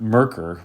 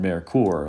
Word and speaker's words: Merkur: know how to pronounce I think I've heard merker more often than marur as an example another